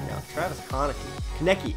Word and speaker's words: Konecny: Travis Konecny. Konecny. I keep saying Konecny. Then I heard somebody say Konecny. Konecny. Look, I still can't even say it right, even though I heard somebody say it right.